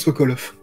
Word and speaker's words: Sokolov: Oui, et ça se prononce Sokolov.